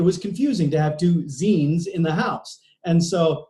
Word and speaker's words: zene: But, I went with my first name, and lo and behold, Zene is, in Hungary it's pronounced Zene, but it actually means music.